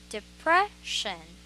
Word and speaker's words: depression: syllable so number one it's depression so the stress is on prayer depression okay depression let me